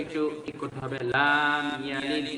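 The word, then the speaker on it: لَمْ يَلِدْ: লাম ইয়ালিদ, এখানে একটু লামে টান পড়ে গেছে, কিন্তু টান হবে না।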